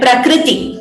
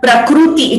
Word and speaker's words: prakriti: hear clearly now please note the pronunciation of this word prakriti it is not with one there and it is also not prakruti it is not ooh it is again this